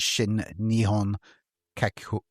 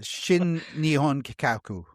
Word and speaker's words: Shin Nihon Kikaku: was the SNK Corporation, which is Shin Nihon Kikau. Gonna have a stroke. Kikau. What the fuck? Kikaku. Kikaku? Yeah, Shin Nihon Kikaku. Oh, there we go. That sounds much better than the previous pronunciation.